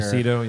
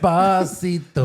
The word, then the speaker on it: Esposito: Esposito, yeah. Every like syllable he pronounced was wrong. It's okay. It's okay. You're the Hispanic and you can't say Esposito. No. Esposito. He didn't even say Giancarlo right. Espacito.